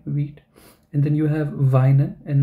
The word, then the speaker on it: weinen: And then you have Weinen and not Wienen, because EI, so I and not, so Weinen, then it means to cry. So whenever, idea is that when you are learning new German words, when you see IE, pronounce this as E. When you see EI, pronounce it as I.